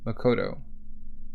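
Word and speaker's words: 誠: The kanji for truth on the coat is pronounced Makoto, which just so happens to be the same character used in the given name of author Makoto Yugamura.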